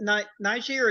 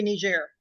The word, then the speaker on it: niger: It would be Niger. No, it's a Niger. Soft G. Okay, it's right. So be Niger. It's in before a G. GE is a soft G.